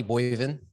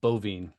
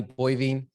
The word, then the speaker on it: Boivin: packed schedule all right guys we got donnie boy even is that the right way to pronounce it bovine bovine yeah i saw it on on facebook